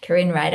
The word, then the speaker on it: Karine Ryder: Karine Ryder, I'm a functional medicine culinary nutritionist.